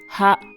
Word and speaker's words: は: By the way, “は” is usually pronounced “ha,” but as a particle it is pronounced “wa.”